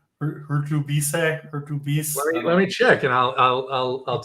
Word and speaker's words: Hurtubise: Jakey Hurtubise. How do you not know how to pronounce his name?